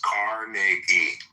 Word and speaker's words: Carnegie: more than I respect Carnegie or Rockefeller. They were very greedy men. Well, pronounce his fucking name right. It's Carnegie.